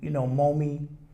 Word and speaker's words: Momi: to name this company, Momi Publishing for Marcus, Odyssey, Malcolm, and Eli. And then I said phonetically, it sounds like mommy.